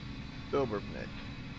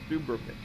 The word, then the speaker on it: Dubrovnik: We're making our way to Dubrovnik. I think, man, I'm gonna doubt myself. Like, did I pronounce that right? Dubrovnik.